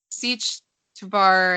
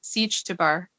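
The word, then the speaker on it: Sietch Tabr: Siege Tabar, I think is how they pronounce it. Siege Tabar.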